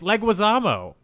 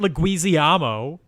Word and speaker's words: Leguizamo: oh John Louisiana John Leguizamo what um no Leguizamo Bruno there's an eye I can see it yeah that's still how it's pronounced it's Leguizamo not Le guisiamo get him on the phone I I here's